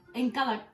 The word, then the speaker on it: Nkalakatha: It's called, so it's by an artist, Mendoza, He's a South African artist, and it's called Nkalakatla. I can't do the click. Nkalakatla. Okay. Anyway, it's spelled Nkalakatha.